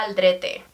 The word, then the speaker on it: Aldrete: spanish yeah okay so the way you say it in spanish it's sarah maria aldrete aldrete aldrete i would have said